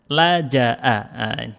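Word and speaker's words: لجأ: mana itu nomor 9 la Jaa la Jaa cara bacanya ini ada di mana Di pertemuan kita kalau enggak salah yang kedua kita Jelaskan cara bacanya ini selalu fathah yang ini selalu fathah ya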